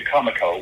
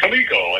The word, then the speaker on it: Comico: which most people look at and they say Comico which I did too when I walked in the door and got corrected no it's pronounced kamiko I thought okay well I never would have